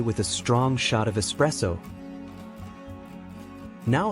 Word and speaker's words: espresso: you pronounce this one it is pronounced as espresso usually mispronounced as espresso espresso is a concentrated coffee beverage the word originates from Italian where there is no X sound in the spelling or pronunciation for example I start